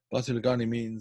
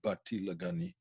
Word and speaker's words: Basi LeGani: Basi LeGani is the literal meaning. It's in sort of Ashkenazi pronunciation rather than the modern Israeli pronunciation. The modern Israeli pronunciation would be Bati LeGani.